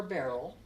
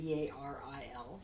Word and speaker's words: Baril: it's Marie or Beryl there are different ways of pronouncing it the BA ril it's a French name and so you can say it however you wish we usually go by